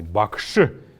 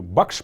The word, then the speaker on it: бакши: или настоятель буддийского храма обязательно нужно отметить что после буквы ш есть неясный гласный бакши мне мы бакшиш произносим а бакши так вот когда часто пишут или вот от слова и происходит слово м.ч.